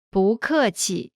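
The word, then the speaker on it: 不客气: Pronunciation note: when 不 is followed by a fourth tone, its tone changes from the fourth tone to the second tone. Listen to the pronunciation again. 不客气 Next is 客气 courteous.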